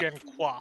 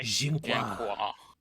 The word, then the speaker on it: Jenqua: I can talk to Jenka. Jenka's his name, right? I'm not mispronouncing that? Genqua. Yeah. QWA. Jenqua. French. It's French. Yeah, I'll talk with Jenqua if I can.